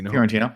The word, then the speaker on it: Fiorentino: But I want to do Dogma, and I want to replace the leading lady, Linda Fiorentino. I'm probably pronouncing that wrong, but Fiorentino.